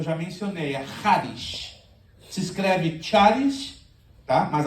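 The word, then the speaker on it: χάρις: mencionei ais se escreve taris Tá mas a pronúncia figurada no grego qu você vê ch se pronuncia como a j casteliana r e era empregada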